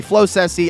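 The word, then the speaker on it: Floccesy: Continue straight this way to get to Floxessie Town, and I believe that's how you pronounce it. Again, some people say Flocessie. I think it's Floxessie with the two C's.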